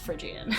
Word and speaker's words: Phrygian: I did look up Phrygian, and it is pronounced Phrygian.